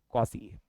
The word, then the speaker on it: quasi: तीसरा और एक कुछ था, QUASI, कॉसी। कॉसी की स्पेलिंग क्या है मालिक?